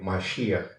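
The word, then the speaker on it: משיח: se llev masia es en hebreo masia se pronuncia así y en castellano vendría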